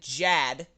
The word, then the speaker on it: Jad: friend kate just said jad in the chat what do you mean jazz that that's all she said j-a-d that was it what's your name dad rhymes with chad tad what's your middle name